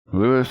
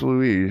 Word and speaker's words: Louise: least I never have Louis can good evening from the UK welcome to the stream less Louise is I pronounced that wrong the first time that Lewis or Louise that's this Louise yes okay my apologies for